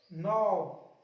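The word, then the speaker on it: knob: Knife, need, नॉक, नॉट, नी, नी, नकल, night, नॉब, नेक। तो guys हमने क्या सीखा, एन से पहले के साइलेंट होता है।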